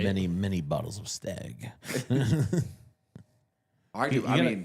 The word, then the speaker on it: Stagg: Staggy ended up with. Right. Many, many bottles of stag. I do. I mean, you gotta say it right though. Remember, it's stag.